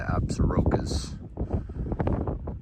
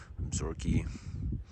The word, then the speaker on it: Absaroka: This is the Beartooth Range right there, aka the Absarokas, however you want to pronounce it. Absaroka, Absorki, yada.